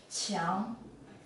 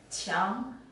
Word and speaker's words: 墙: This character is pronounced as 墙, 墙, and it means a wall.